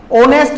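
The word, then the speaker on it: honest: इज एंड ऑनेस्ट मैन क्योंकि वे यहां पर साइलेंट है ऑनेस्ट मैन बोला जाएगा इसको ठीक है तो इस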